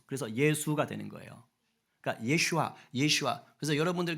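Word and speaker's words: ישוע: 쓰는 이름인 거예요 어 히브리어로는 예슈아 그럽니다 뭐라고요 예슈아 이걸 헬라어 식으로 음역 헬라어 식으로 발음한게 예수스 그래서 예수가 되는 거예요 그니까 예슈아 예슈아 그래서 여러분들 그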